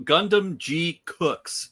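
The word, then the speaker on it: Gundam GQuuuuuuX: My woof of the week goes out to Gundam G Cooks. Yes, that's how it's being pronounced on the show.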